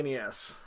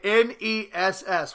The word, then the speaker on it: NES: Hey Ryan, what do you call the next version of the NES?